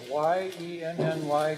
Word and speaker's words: Yenny: And I believe this looks like a Y-E-N-N-Y Garcia, Vice Chair. Okay, how do you pronounce that?